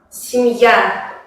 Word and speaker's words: семья: Por ejemplo, en la palabra семья, Y es átona, por eso se pronuncia más como I. Семья.